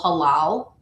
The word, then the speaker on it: halal: It's called halal. And it's spelled H-A-L-A-L.